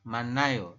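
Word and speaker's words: 많아요: hit-nya dihilangkan dari maneh Ayo maka anda membacanya adalah manayo seperti itu ini juga sama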